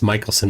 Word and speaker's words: Michelson: it with no dude mik Michelson it's Michaelson Morley here's here's what I've